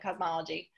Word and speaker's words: Kazmaleje: it for folks um k-a-z m-a-n-p-j-e yeah the phonetic spelling the phonetic spelling of cosmology um latoya one last